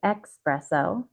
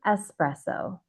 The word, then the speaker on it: espresso: Many English speakers say espresso, but it's actually espresso. No X. It's commonly pronounced espresso because it's similar to the word express in English.